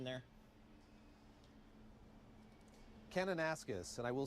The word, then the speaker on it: Kananaskis: Kanaskas?